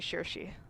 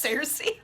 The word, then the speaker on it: Saoirse: In the traditional Irish, it's actually Saoirse. Circe. I was kind of Saoirse. close. You were just going full You on were Game of very Thrones with it. close. Cersei.